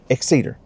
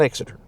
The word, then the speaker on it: Exeter: like exitor it's pronounced the best I can pronounce it exed not exiter exiter would be this guy from the classic